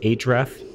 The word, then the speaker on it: href: can say href that stands for hypertext reference or it's typically just pronounced href and from here if